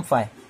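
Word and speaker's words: φ: अब ये क्या होता है, इसको बोलते हैं हम फाई। क्या बोलते हैं, फाई। ये स्पेलिंग नहीं है, मैं एक चीज बता रहा हूँ कि फाई समझ में आए जैसे, ठीक है।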